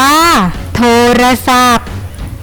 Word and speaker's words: โทรศัพท์: ว่า สร้าง สรรค์ โทรศัพท์ อ่าน ว่า โทรศัพท์ สตางค์ อ่าน ว่า สตางค์